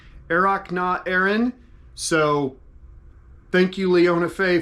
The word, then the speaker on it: Earrach na hÉireann: So yeah, the final piece, Springtime from Ireland, in Gaelic, like I had in the title, is pronounced Earrach na hÉireann.